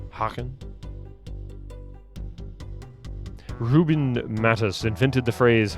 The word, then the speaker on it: Hagen: Like Nina Hagen, but the G is pronounced differently in Dutch. Hagen.